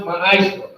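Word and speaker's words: מעשר: Means tenth in the Hebrew, and it's pronounced ma'ashra.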